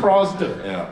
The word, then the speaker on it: ProZD: Yeah, it's pronounced ProZD.